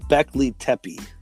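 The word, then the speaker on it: Göbekli Tepe: um but like so it's okay it's called beckley tepi is the correct pronunciation quebecois tepee so that's in turkey and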